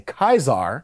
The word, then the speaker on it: Caesar: the fallout's writing is you can tell how someone feels about the Legion by how they pronounce Caesar's name if they say Caesar they're not sympathetic but if they say kaisar yeah they know how to pronounce it and that's the problem